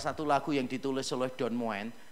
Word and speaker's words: Don Moen: lagu yang ditulis oleh Don moen bacanya bukan Don Mun ya kalau donmun itu berarti Moon itu moon bulan ini bukan moen bacanya Ya itu bukan Soeharto